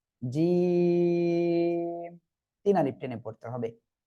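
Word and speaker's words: جيم: জিম। জিহ্বার মাঝখান তার বরাবর উপরে তালুর সঙ্গে লাগিয়ে উচ্চারণ করতে হবে। জিম, তিন আলিফ টেনে পড়তে হবে।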